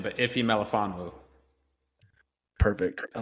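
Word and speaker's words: Ifeatu Melifonwu: Branch, and I'm going to butcher his name, Afetu Malafanu. Say it for me, please, because if you can say it better, I'll appreciate that. I actually don't know how to say his first name, but Ife Malafanu.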